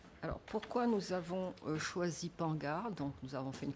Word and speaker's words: Pangar: Et nous nous sommes arrêtés sur une symbolique qui est un arbre, donc l'arbre de vie, et Pangar, il faut bien prononcer à la créole, ça veut dire faites attention, soyez attentifs.